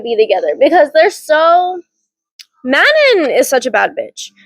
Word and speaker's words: Manon: I know who Dorian's going to end up with, because if he doesn't end up with Manon is the correct pronunciation, by the way, I found that out.